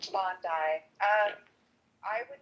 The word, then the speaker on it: Bondi: When they like book a place and they would say go to Bondi Beach or Bondi Beach, however you pronounce it, Bondi.